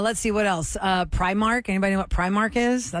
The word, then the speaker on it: Primark: it they say prar it's Primark cuz it's spelled p r i Mark and there you can